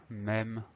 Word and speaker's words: même: Et il a une grosse particularité, c'est le son E, même. Donc, il va s'écrire M-E, accent circonflexe, M-E.